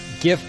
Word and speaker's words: GIF: me out though when it comes to GIF versus GIF I can kind of go either way like